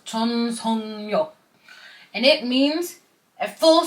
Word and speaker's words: 전속력: It's spelled this way, but it's kind of pronounced as 전속력.